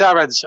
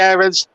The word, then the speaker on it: Aarons: i'm gonna say max aaron's a lot of commentators say aarons some say aarons i'm the i'm in the irons camp um so i'm gonna i'm gonna stick with that pronunciation it's almost like the